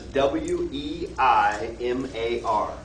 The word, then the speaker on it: Weimar: but it's called the Weimar government. And the way you spell that is W-E-I-M-A-R. W-E-I-M-A-R. I'll adjust the slide here when I post it. But in German it's pronounced like a V.